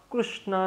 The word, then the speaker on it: कृष्ण: क्या बोलते हैं लेकिन कृष्ण उनके मुख से नहीं निकलता लाला बोल देंगे हमारा लाला तो आप कृष्णा नहीं बोले कृष्ण बोले क्योंकि कृष्ण स्पष्ट उच्चारण है कृष्णा क विद्वान लोग